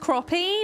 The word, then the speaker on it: crappie: you so much it's it's pronounced crappie but it says it's got an A in it it's crappy siren simulated